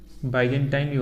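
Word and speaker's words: Byzantine: की इसी को लिखो पूर्वी रोमन साम्राज्य को बाइजेंटाइन और बोलते बाइजेंटाइन साम्राज्य बाइजेंटाइन बाइजेंटाइन साम्राज्य भी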